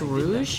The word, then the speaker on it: Rouge: It's pronounced Rouge.